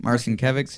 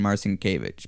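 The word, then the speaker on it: Marcinkevičs: I've heard it pronounced Marcinkevics and Marcinkevich, but gotcha.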